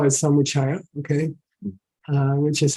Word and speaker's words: Samuchaya: this book first of all let's call it Samaya okay which is how you pronounce it h it's not how you spell